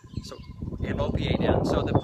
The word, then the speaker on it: OPA: you an acronym and the acronym is pronounced Opa not OA which is close Opa